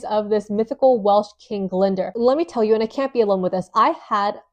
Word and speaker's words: Glendower: It's spelled G L E N D O W E R I think which you would think is Glendower. No, it's Glender.